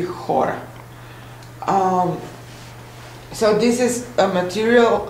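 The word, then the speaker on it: χώρα: Chora, how do you pronounce it? In Greek that would be chora.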